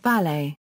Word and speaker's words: valet: Since the 16th century, the word has traditionally been pronounced as rhyming with palette, though an alternative pronunciation, rhyming with chalet, as in French, is now common.